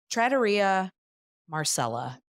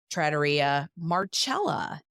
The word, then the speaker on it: Trattoria Marcella: It is not Trattoria Marcella, as I would pronounce it if you're pronouncing it in an Italian way. It is Trattoria Marcella.